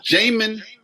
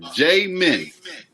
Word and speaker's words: Jamin: you got to say my name is jamin j min all right there we